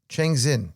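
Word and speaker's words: Changxin: What if all of a sudden the Trump administration allows for probably chang the X is usually pronounced S or SH, right?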